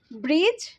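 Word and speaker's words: bridge: এক এক করে বলি ব্রিজ ব্রিজে এখানে দেখছো ডি জি এবং সত্যি কথা বলতে ডি টা এখানে সাইলেন্ট ঠিক আছে তারপর অরেঞ্জ অরেঞ্জেও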